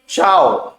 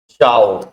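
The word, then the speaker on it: ciao: आप बाय बोले या गुड बाय बोले या एड्यू बोले, इसको इसका प्रोनाउंसिएशन है चाओ। क्या प्रोनाउंसिएशन है? चाओ।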